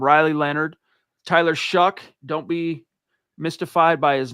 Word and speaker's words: Shuck: Riley Leonard, Tyler Shuck. Don't be mystified by his name. It looks like Shao, but you pronounce it Shuck, from Louisville.